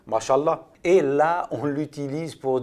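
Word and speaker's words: ما شاء الله: Masha'Allah, qui veut dire c'est ce qu'Allah a voulu, se prononce Masha'Allah.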